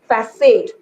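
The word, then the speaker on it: façade: Okay, যেনেকে ধৰি লোৱা এই wordটো FACAD ই, okay, আমি এটো কি বুলি কওঁ, বহুতে ফ্যাকেট বুলি কৈ দিয়ে, ফ্যাকেট নহয়, actually এটো হৈছে facade. এই সি টোৰ pronunciation হৈছে এছৰ নিচিনা.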